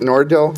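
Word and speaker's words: Nardil: susan and her experience being prescribed is it nordell yes pronounced and that caused her to have blood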